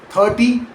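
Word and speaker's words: thirty: In 30, the stress falls on the first syllable 30 and it ends in that soft, quick Y sound instead.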